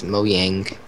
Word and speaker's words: Mojang: I backstabbed a pig it's either Mojang or moang it's moong from their area from Sweden it's moyang to well actually the J is silent yeah that's no no the J is turns into a y well I I can